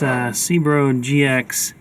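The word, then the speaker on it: Cerbo GX: I got this Cbro GX, that's how you say it, from Victron Energy to control this thing and future devices.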